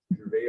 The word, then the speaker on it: Gervais: I think a lot of people say Jarvis, but Gervais, I'd say would be the pronunciation, right?